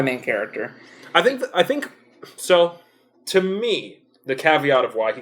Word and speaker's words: Thom: I say Tom. I say Thom because there's an H in there. The H is silent.